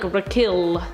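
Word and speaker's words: R'Klll: franchise number nine raquel i never know how to say this name but i'm pretty sure it's like rakil how do you say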